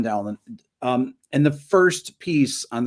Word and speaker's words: Dowland: Some people say the pronunciation is Dowland. So, but I always called them John Dowland.